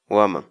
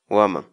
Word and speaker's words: waman: série de vídeos onde nós ensinamos você a pronunciar determinadas palavras em Quechua. Portanto, a nossa palavra do dia para hoje é... Woman. Woman.